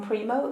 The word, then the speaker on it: Primeaux: I'm your host, Mary Bodin, and joining us today is Primo. Is that how you pronounce it?